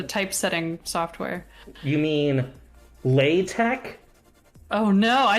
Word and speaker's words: LaTeX: to know based on chat how you pronounce l-a-t-e-x oh as in the type setting software you mean lay tech oh no i say latex i think it actually is law attack so oh there is uh there is a